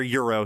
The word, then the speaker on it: gyro: I go for a gyro right now. Or euro. Sorry, that's how it pronounced.